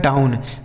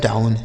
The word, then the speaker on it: down: ठीक है, DOWN, डी से हो गया दोस्तों डा, इस OW का उच्चारण आऊ, N से हो गया न, लिखा गया है डाउन। DOWN, लिखा गया है डाउन।